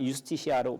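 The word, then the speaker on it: iustitia: 왜냐하면 그 라틴어 때문에 그런데 라틴어가 유스티시아로 발음합니다.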